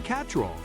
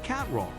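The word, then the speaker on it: Cattrall: She has joked that fans often mispronounce her name, saying, "It's Kim Catrall, it's not Kim Catrall."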